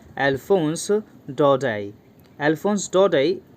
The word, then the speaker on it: Daudet: इनका नाम है अल्फोंस डौडेट। अल्फोंस डौडेट, इसको हम डौडेट नहीं प्रोनाउंस करेंगे क्योंकि इनका ये एक फ्रेंच राइटर है और फ्रेंच वर्ड को हम इसी प्रकार प्रोनाउंस करते हैं, अल्फोंस डौडेट।